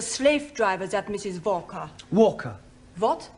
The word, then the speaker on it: Walker: Walker. What? W is pronounced W.